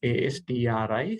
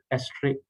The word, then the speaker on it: ASTRI: return version which is known as astri sometimes we pronounce it aster a stri also total return index